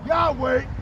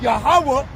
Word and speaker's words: Yahawah: Our people believe that YOU CAN CALL GOD'S NAME Yahweh and Yahushua and be saved, WHICH ARE BASED ON VOW points and on the Latin and Greek pronunciation of what those two words are. Okay. The true names of the most high and his sons is Yahawah as I stated earlier in the video and Yahawashi. All those that call UPON